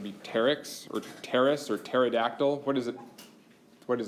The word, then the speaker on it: pterodactyl: from Greek and the in Greek it would be a silent P so would be terx or terce or pterodactyl what does it what